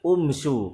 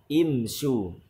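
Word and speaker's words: امْشُوا: Kalau dikembalikan kepada kaidah seharusnya bacanya umsyu karena harokat ketiga dari fi'il tersebut yaitu dhammah. Maka seharusnya hamzah waslnya dibaca menjadi umsyu. Tetapi tidak. Pada contoh ini hamzah wasl dibaca dengan kasrah imsyu.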